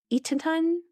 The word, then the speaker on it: Eatonton: It's Eaton, like Eaton, Ton. Eatonton.